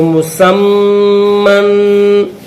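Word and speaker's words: مسمى: میم دو زبر من مسمن وقفا مسما ہجے پڑھیں گے تو مسمن، لیکن جب وقف کریں اسٹاپ کریں گے تو پھر کس طرح پڑھیں گے؟ مسما.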